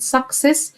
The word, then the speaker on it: success: خلي بالك في كلمة success فيها 2 سي، الأولانية هنطقها كي صك، والتانية هنطقها اس، وانت عارف القاعدة قلناها كتير، وفي فيديو كمان معمول مخصوص عشان خاطر القاعدة دي.